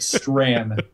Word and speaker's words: Strahan: Strahan. How do you say that? That I can tell you was 100% Strand.